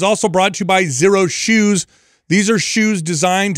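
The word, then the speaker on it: Xero: Zero is spelled X-E-R-O.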